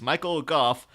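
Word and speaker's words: Michael Gough: And then we had to settle on Michael Goff as well, because it was like, was it Michael Gauche? What? And then apparently it's specifically says on his IMDb, it's Michael Goff pronounced like cough.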